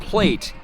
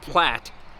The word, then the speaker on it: Platte: all right well here we go the great platte river road it's not plate it's pronounced platte river road archway there's